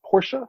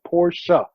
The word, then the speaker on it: Porsche: grinds my gears right the man's name is porsche for crying out loud already it has two syllables in it poor show right so every time